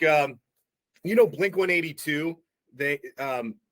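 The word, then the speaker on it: Blink-182: like um you know Blink 182 they um people in England call them blink 100 in 82 did you know that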